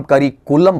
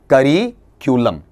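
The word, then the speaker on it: curriculum: बोल भी जाते हैं, यहां गड़बड़ी करते हैं अपन, ये साउंड जो होती है उस ये साउंड को आप मिस कर जाते हैं और हम करिकुलम पढ़ जाते हैं या करिकलम पढ़ जाते हैं, जबकि है क्या, करिक्यूलम, करिक्यूलम।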